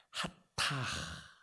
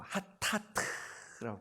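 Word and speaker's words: חטאת: 하타 이렇게 발음하거든요. 하타 혹은 sins 그래고 하타트라고 발음하기도 합니다.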